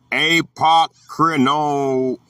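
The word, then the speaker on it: ἀποκρίνομαι: The word, Greek word is apokrinomai, pronounced ap, ok, re, nom, ahi.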